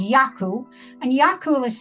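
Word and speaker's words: Eagal: a great big daft dog called yaku and yakula is spelled e-a-g-a-l and pronounced yakul and it's garlic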